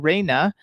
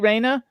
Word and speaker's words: Reina: hello oh my gosh rayna you are so beautiful is that how you pronounce your name am i pronouncing it correctly raina yes you are pronouncing it right it's raina nice to meet you all